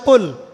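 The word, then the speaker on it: قل: যেমন একটা অক্ষর আছে কফ বড় কফ যেমন কফ দিয়ে একটা শব্দ আছে কুল আপনারা সূরায় পড়ছেন নামাজে কুলহু আল্লাহু আহাদ তাই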